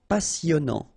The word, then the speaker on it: passionnant: Okay, here you pronounce the double S because you've got a vowel, so it's really a strong one. Passionnant.